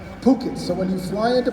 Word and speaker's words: Phuket: but i learned the hard way that it's pronounced phuket so when you fly into phuket don't get